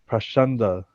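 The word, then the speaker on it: pākhaṇḍa: The word pakanda used in this verse is sometimes pronounced prashanda.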